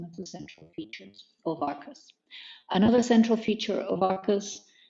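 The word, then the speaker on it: Arqus: It's actually Arcus comes from the Latin Arcus with a C, or Arcus, Q-U-U-S, meaning arch, bridge.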